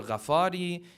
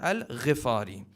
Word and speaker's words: al-Ghifari: Many times people will pronounce the name as Abudharr al-Ghifari or Ghafari. The correct pronunciation is Abudharr al-Ghifari because his tribe was the tribe of Ghifar.